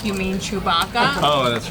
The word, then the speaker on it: Chewbacca: I'm still trying to remember whose name you were mispronouncing. It was Chewbacca. You're like, you mean Chewbacca? Oh, that's right. But I said it completely wrong. Chupacabra or something.